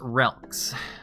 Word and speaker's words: Relks: Relks. It's pronounced relics.